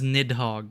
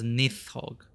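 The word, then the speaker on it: Nidhogg: Thunder like nith hog I thought it was nidhog but it's they were saying it as nith hog these beasts have opted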